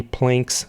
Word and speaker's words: Planck: is defined to be Planck's constant. So Planck's constant, or Planck's constant, I believe it's pronounced as Planck, is equal to 6.626 times 10 to the minus 34.